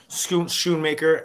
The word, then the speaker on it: Schoonmaker: and and and Thelma Shoon maker am I pronouncing that right yes Schoonmaker and and they were both